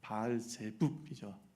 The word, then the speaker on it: 바알세불: 이게 바알제붑이죠. 정확한 발음은 바알제붑 그랬단 말이에요.